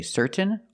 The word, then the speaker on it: certain: now let's practice with some words ending in t a i n example certain certain you can say certain or certain but don't